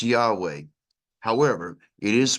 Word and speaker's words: Yahweh: u a a e the vowels e a u a e and when we create those together as an intonation it literally becomes and you can hear Yahweh here's here's one other